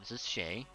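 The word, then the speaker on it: Chet: I don't know if you met my my other son yet, but this is Shay. You know, it's spelled C-H-E-T, but it's pronounced Shay.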